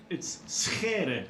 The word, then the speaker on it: Scher: Would it be Scher? Scher. Well, the last name is a bit tricky because we have the typical Dutch g sound, so it's Schere. That's how it's pronounced.